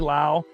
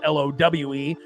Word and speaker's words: Lowe: these guys besides maybe Lowe, you know, obviously name normally spelled L O W E, but he's the only one in baseball that pronounces it Lowe, not Low.